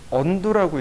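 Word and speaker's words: undo: 식으로 읽으면 레알이죠 저 언두라고 있습니다 근데 어떤 분이 오셔가지고 온도에 대해서 설명해 주세요 그러더라고요 스펠링 써보세요 그랬더니 이렇게 쓰시더라고요 한국식으로 읽으면 온도가 맞겠죠 영국식 미국식은 언두 언두가 취소하다라는 뜻입니다 그러니까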